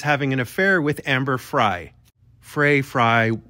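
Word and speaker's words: Frey: an affair with Amber Frye Fray fry we'll call her fry but for the record phonetically it's Fray but I digress but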